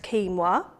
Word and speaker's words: quinoa: Spelt quinoa, but pronounced quinoa, and it's absolutely brilliant grain for vegetarians.